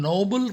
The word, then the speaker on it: Nobel: And all of your children, Nobel Prize. Here we should discuss Nobel Prize also. Many of us, we just commit a mistake. Noble, Nobel. See the difference? Noble. Same, almost same pronunciation.